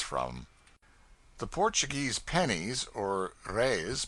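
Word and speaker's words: reis: the Portuguese pennies or Rays pronounced rays are prodigious it takes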